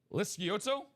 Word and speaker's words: Lisciotto: the only person here at UA that correctly pronounces his last name, Alfredo Lisciotto.